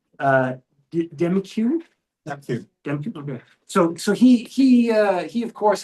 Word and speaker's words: Demkiw: We saw that, to speak about the police chief of Toronto, who, I don't know how you pronounce his name, Demkiw? Demkiw, okay.